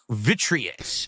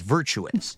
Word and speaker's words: Virtuous: This company, Vitreous. Wario 64. Virtuous. I completely pronounced that wrong. It's Virtuous.